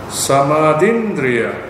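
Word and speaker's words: samādhindriya: Samadindriya. Okay, you got to put the apostrophe there, which is missing. Samadindriya is a dharma conducive to awakening. It brings about awakening. Right? S-A-M long R-D-H apostrophe Indriya.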